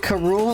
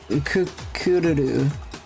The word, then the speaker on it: Kururu: So they pronounce it Karul in the cartoon because that's how it's pronounced in Japanese. Kururu.